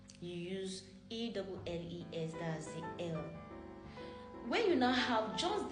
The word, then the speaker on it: elles: When you're pronouncing ELLES as well, it's pronounced L.